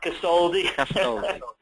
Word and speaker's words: Castoldi: Today we have Ricky, and I just asked him how to pronounce it, Castoldi.